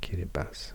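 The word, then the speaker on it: Kiribati: countries and territories so kba this is actually pronounced kibas I've learned k Papa New Guinea New Zealand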